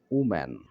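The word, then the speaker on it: woman: কিছুদিন পর হয়ে যাবে উম্যান। এখানে আমরা উচ্চারণটা দেখব। ডাব্লুর পরে ও থাকলে উ, উচ্চারণটা হবে উ। যেমন উলফ, উলভস, উম্যান, এরকম।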